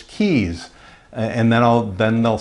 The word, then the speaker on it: Keyes: it or mispronounce it is that Rhea's is that KS no it's keys and then I'll then